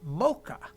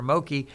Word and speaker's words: Moke: Moke or something, or Moki. But when I looked into the Hawaiian name pronunciation, it said Mocha, like the sound like pet or jet, Mocha on the E.